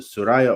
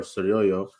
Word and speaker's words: Suryoyo: If you pronounce it Suraya or Suryoyo, you spell it the same. It's just the reader is the one who's different. So it's being pronounced different by the one who's reading according to his own accent.